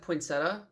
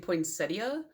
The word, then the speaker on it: poinsettia: cuz like growing up my grandma always said poinsetta so that's how I said it but now I hear people saying poinsettia so now I don't I could just Google